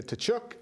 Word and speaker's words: Tkachuk: I would like to welcome our guest, Lisa Tkachuk from Senior Whole Health. First question is, did I pronounce the last name right? Perfect. Tkachuk. Perfect.